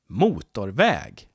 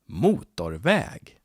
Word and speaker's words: motorväg: And if it's a compound, it has 2 stresses. Väg. Road. 1 syllable, 1 stress. Väg. Motor. 2 syllables. 1 main stress in the beginning and a secondary stress. And then we have the compound. Motorväg. Motorväg. So we have 2 stresses here.